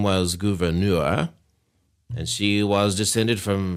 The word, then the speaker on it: Gouverneur: He has a funny name, so forgive me ahead of time for mispronouncing it. Everybody, please welcome Gouverneur Morris.